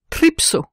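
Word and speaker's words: τρίψω: frotte donne au futur tripso qui se prononce et s'écrit tripso avec un PSI trpo je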